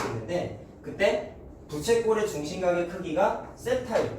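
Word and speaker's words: θ: 그래서 기호를 보통 이렇게 번데기 모양처럼 쓰는데 읽을 때는 세타라고 읽어요.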